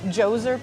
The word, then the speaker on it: Djoser: yeah yeah and it was the architect of Jose pyramid did I pronounce that right you sure did yeah with